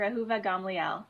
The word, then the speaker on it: Ahuva Gamliel: Ahuva Gamliel. Am I pronouncing that correctly? Yes, that's great. Yes, that's close enough. Well, you say it. Let's see how you would say it. Dr. Ahuva Gamliel.